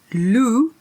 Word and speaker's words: loup: There's no p. He's Lulu because Lou, it has a silent P on there.